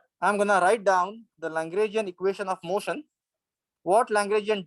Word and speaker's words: Lagrangian: Lagrangian.